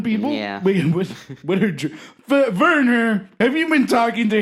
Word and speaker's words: Werner: Oh, yeah, the V where it's supposed to be a W threw me off. Werner. Well, yes, the Bavarians share the pronunciation of W's as V's with the Germans, but our accents are a bit different.